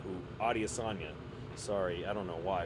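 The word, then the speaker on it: Adesanya: And I had no idea these guys were this old, especially Israel Idiasa. Who? Adiosa. Sorry. I don't know why I pronounced it that way, but uh he's apparently 35.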